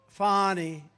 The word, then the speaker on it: Fani: It's pronounced Fani, F-A-N-I. That's Fanny. But she likes it Fani.